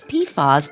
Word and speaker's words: PFAS: It's called PFAS, but it's spelled capital P, capital F, capital A, and capital S.